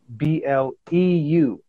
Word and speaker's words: Thaylobleu: Now it's spelled Thaylobleu, like the French blue, Thaylobleu.